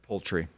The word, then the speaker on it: Pulte: Poultry.